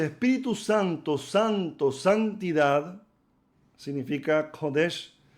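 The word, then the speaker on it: קודש: Y en vez de decir Kodesh, decimos Kadosh. Por ahí, sin querer, se estará diciendo otra cosa en hebreo.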